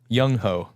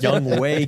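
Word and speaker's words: Younghoe: wrong well you said yungho you said it like a spell you said it like a spelled okay and it's so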